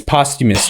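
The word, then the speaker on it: posthumous: H after they died it's it's postumus postumus that's why post sounded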